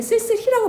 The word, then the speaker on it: 쓸쓸히: 쓸쓸이는 쓸쓸이라고 발음되는지 쓸쓸히라고 발음되는지 봤을 때는 얘는 쓸쓸히라고 발음되거든.